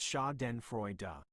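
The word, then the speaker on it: Schadenfreude: Shoden Freuda is pronounced Shaen Freya. Let's break it down. Shaden Shaen rhymes with Aden the poet but with an sound at the beginning.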